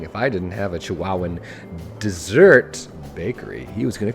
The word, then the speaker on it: Chihuahuan: is the Chihuahuan Desert to chihuahuen that's not how you say it the Chihuahuan I don't know I think so here's the desert those